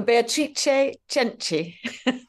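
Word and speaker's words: Beatrice Cenci: try and say this name beatric Sensei oh betri cheni that's the Italian pron pronunciation but yes it's spelled same as beatric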